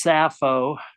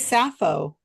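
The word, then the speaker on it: Sappho: Rotten Tomatoes that makesense and I know it's safo what is safo safo is the woman the one that yeah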